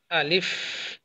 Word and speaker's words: ا: এটা উচ্চারণ কি হবে? আলিফ, আওয়াজ বের হবে আলিফ, আলিফ, আলিফ।